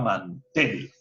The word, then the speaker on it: mantel: Por ejemplo, si yo tengo la palabra mantel, puedo cambiar, ¿es mantel o es mantel? Pues me doy cuenta que la palabra correcta no es mantel, sino la palabra correcta es mantel. Por lo tanto, la mayor fuerza de voz está en la última sílaba, mantel.